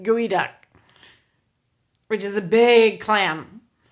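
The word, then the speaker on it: geoduck: a clam head or i think i said gooey duck which is a big clam so it's now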